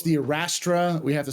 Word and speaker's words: Arrastra: we as YouTube said when you look up how to say it it says arastra arastra that's a robot saying it but yeah arastra um